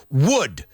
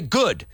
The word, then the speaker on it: wood: Wood, because a lot of people say good, and then you know what I say? Not good. It's not good. It's wood.